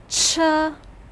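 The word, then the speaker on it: 车: out the remnants of the old picture cha pronounce with me cha this means vehicle or wagon can you make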